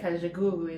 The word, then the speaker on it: Kajagoogoo: We say Kajagoogoo in Sweden, so it might be another pronunciation when you're a proper English person.